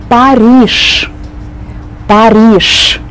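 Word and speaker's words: Париж: name of this city the capital of France perish perish that's how we pronounce the Prussian way varnish varnish no texture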